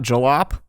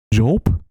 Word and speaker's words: Jolp: It is pronounced Jolp. It's not Jolop, or any other weird, funky way you can come up with.